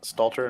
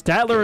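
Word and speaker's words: Statler: Are you familiar with uh Stalter and Waldruff? It's Statatler and Waldorf. You just butchered that.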